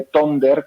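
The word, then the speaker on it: Tønder: Hai que pronunciar algo así como parecido, no, peor, parecido a tuna, que atún en inglés, como sabes, bueno, pues casi tuna, como hai que decir Tonder, non?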